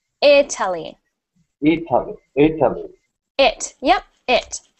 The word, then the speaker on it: Italy: Not E, but I. Italy. Italy. Italy.